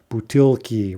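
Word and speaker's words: бутылки: Butilki, right, is bottles.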